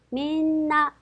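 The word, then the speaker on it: みんな: 단어입니다 자 그래서 어떻게 민나 민나 세 박자 그래서 나행 앞이기 때문에 니은 받침에 주시면 되겠죠 이번에는 편리하고 하는 단어입니다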